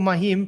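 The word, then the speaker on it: מים: The Hebrew noun for mahim, pronounced mahim, is the word for water.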